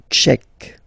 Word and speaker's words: tchèque: La République tchèque. So remember, Q-U-E, K, Tchèque. La, and then here as well, République. La République tchèque.